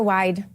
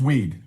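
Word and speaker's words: Wied: Joining us now with reaction, Wisconsin Congressman Tony Weed. Do you say Weed or Wide, Congressman? Good morning. It's Weed. Weed. Okay. All right. Well, I think that's the proper, you always take the second vowel, right?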